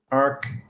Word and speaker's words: Arques: So Arc, and it's pronounced Arc in French, in France.